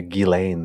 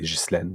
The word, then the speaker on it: Ghislaine: Of course, the main co-conspirator, well, she goes by Ghislaine Maxwell, even though her name is spelled Ghislaine. In French, we would say Ghislaine, but Ghislaine Maxwell is what she goes by. Yeah, I would say Ghislaine as well, but they say Ghislaine.